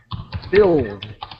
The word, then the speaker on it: build: next year to build build really the U is silent city is going to